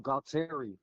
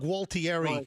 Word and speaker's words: Gualtieri: Bob Galtieri. I'm sorry, what? Bob Galtieri. No, you're not pronouncing that properly.